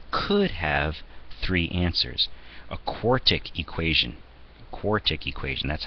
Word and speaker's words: quartic: A quartic equation, that's how you pronounce one with largest exponent as a 4, might have 1, 2, 3, 4 possible answers out of it.